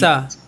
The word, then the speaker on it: JAXA: He does a lot of weird shit through his life, but from the minute he joins NASA, how is it pronounced? Jaxa.